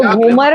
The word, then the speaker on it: घूमर: जो घूमर शब्द है तो घ पे बड़े ऊ की मात्रा है, तो उसका प्रयोग वैसे ही करवाया मुझसे कि घूमर बड़ा ऊ प्रोनाउंसिएशन में आना चाहिए, घूमर रम।